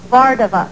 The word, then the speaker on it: Vardavas: How do you pronounce that last name? Vardavas.